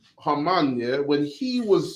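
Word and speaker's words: Haman: they when when when hmon or Hamman which is probably better pronunciation Hamman yeah when he was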